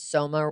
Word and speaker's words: Soma: I remember this is Soma rhymes with coma because people can get barely buzzed on that drug.